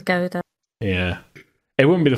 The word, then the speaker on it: gouda: it's yeah very good i'm not 100 sure it's actually pronounced gouda because my mom calls it gowda but i don't i've heard it as gilda yeah it wouldn't be